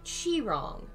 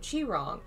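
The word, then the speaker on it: Qi Rong: get in a suggestion it's pronounced like chi wrong thank you chi wrong i'd heard it said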